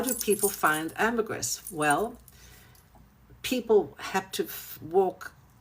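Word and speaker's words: ambergris: So amberree it's actually pronounced in English amberress but in French amberree you don't pronounce the s.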